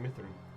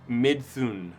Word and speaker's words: Midthun: Yeah, I'm bad at mispronouncing. S-H-A-F-R-A. Okay, I did that right. Shafra Mithrin. Midthun.